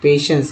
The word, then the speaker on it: patience: पर ले लेते हैं पेशेंस का, PATIENCE। अब देखिए पेशेंस में यहाँ पर स उच्चारण हुआ है जो कि TI है, पेशेंस इस तरह से लिखते हैं, पेशेंस।